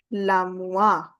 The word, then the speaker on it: l'armoire: You have to go with the liaison. It becomes l'armoire. L'armoire. R will be pronounced at the end. Okay? OA gives you the UA sound.